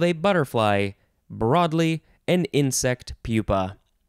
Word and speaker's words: pupa: butterfly broadly an insect pupa i want to say the the word looks like it's spell uh pronounced papa but that would have two peas this it's it's pupa 1b the hardened outer